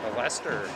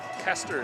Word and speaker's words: Kester: Kester is how you say that last name.